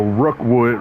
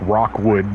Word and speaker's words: Rookwood: So, Rookwood, Rookwood, it's it's always pronounced like Rockwood, but Rookwood then basically follows you